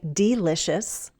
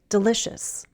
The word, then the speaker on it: delicious: We don't use a long E and say delicious. The stress is on the second syllable, so we say delicious. Delicious. That E is said as a short I sound.